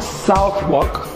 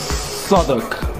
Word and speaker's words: Southwark: it learn correct pronunciations so not south rock it's southwark silent w now if you ever